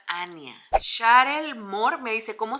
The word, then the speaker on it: Annya: ¿Cómo se pronuncia el nombre de la bebé? Se pronuncia Ania.